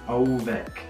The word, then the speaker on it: ołówek: So the word is ołówek. Ołówek. Well, try to pronounce that.